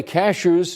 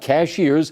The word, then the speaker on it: Cashiers: Uh by the way cashers is pronounced cashers, not cashiers.